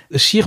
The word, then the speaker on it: cheikh: bon jour pour jour scheer benneteau déchire c'est les français ont sont habitués aux mots chèque mais en fait on prononce scheer oui je ne me